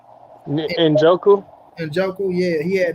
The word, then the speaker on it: Njoku: We had how you pronounce that tight end name? Njoku? Njoku, yeah, he had 9 for 89 with a touchdown.